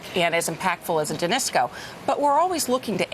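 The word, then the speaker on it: Danisco: that we haven't seen yet now you you denisco am I say it right denisco yes you guys just bought it deal and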